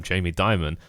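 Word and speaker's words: Jamie Dimon: say I said it right correctly this time Jamie Diamond not that I give a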